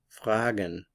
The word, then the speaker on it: fragen: new verb the verb fragen fragen fragen means to ask the stress is on the FR fragen fragen fragen we